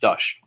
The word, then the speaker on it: Dusch: the Hannah versus the uh and dush pronounced dush um let's do the